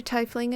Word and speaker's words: tiefling: you know what a tie fling is or a tiefling depending on your region the pronunciation is different out of character i